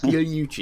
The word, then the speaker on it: Pigliucci: Pigliucci. It's not what a native English speaker would guess to look at the spelling. That's right. The GL is kind of silent, and most Americans actually pronounce it hard.